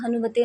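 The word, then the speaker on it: हं: आप जो ओम हम हनुमते नमः मंत्र का जाप करेंगे तो इस मंत्र का सही उच्चारण आपको ओम हन हनुमते नमः इस तरीके से करना होगा। हम की जगह हन का उच्चारण करना होगा।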